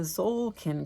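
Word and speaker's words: Tzolk'in: going on here in the zolin calendar which is spelled TZ o l k i n and all it means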